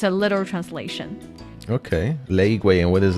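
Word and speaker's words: 雷鬼: Oh, so it's supposed to sound like the reggae. Oh, interesting. It doesn't sound like the original sound, but it rhymes a little bit. 雷鬼 and reggae. Yeah, it does to me a little. Yeah, it rhymes. It rhymes.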